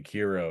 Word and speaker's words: Cheiro: It's Well, I pronounce it Cairo, but it could be Kiro, I guess. Cheiro. Cheiro. Yeah, Cairo.